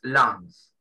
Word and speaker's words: lungs: No se pronuncia la G en esa palabra en inglés. Lungs.